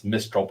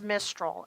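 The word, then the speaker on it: Mystryl: it mistra oh what's was I saying it wrong the first time it's mistol m y s t r y l yeah I'm sorry I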